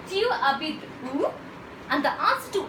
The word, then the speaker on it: habites: Tu habites où? Notice guys, here H is silent, so it goes as tu habites où means where do